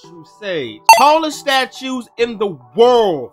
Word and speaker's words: True Sage: It is True Sage, and yes, it is pronounced True Sage.